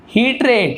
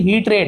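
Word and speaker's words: hatred: With यानी साथ, किसके साथ देखा उसने, हीट्रेड, इसे हम हेटर ऐसे नहीं पढ़ी, हीट्रेड इस प्रकार से उच्चारण होता है।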